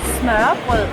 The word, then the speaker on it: smørrebrød: como lo pronuncias? Smørrebrød Smørrebød (con un terrible acento) eso es papa, mayonesa, cebollín y cebolla y cebolla frita dinero de vaca 75, 80 eeeeah!